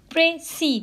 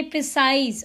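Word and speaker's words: précis: ये जब इसके आप प्रोनाउंसिएशन करेंगे तो it's like प्रेसी, don't say प्रिसाइज.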